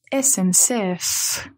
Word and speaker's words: SNCF: France c'est SNCF donc quand vous le prononcez bien c'est la SMCF la SNCF ça c'est l'abréviation de